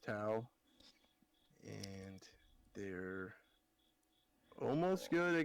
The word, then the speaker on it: Tau: And it's based around I think it's pronounced Tau.